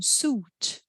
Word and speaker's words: suit: you i ai juntas quando a gente tem palavras com essas duas letrinhas juntas a gente fala eu não pronuncio a let it um terno né uma uma vestimenta mais social é um Sud tem aquela série de TV acho que é Suits que são ternos suds suco Fruit então é não pronuncio a let it Fruit Cruz Só uma curiosidade